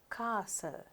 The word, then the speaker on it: castle: First you have this set castle. එතකොට T එක pronounce වෙන්නේ නැහැ.